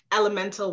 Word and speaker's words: LMNTEL: So this poem is called Elemental Women, and it is spelled not like the actual word elemental, but it's spelled L-M-N-T-E-L, okay?